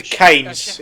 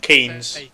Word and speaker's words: Keynes: we're setting up a horse to keep Austin canis how it's pronounced Oh Sheffield Park here yeah turn the key speaking it's pronounced horse did Cain's not I've Keynes yeah it's pronounced Keynes though Keynes penis horse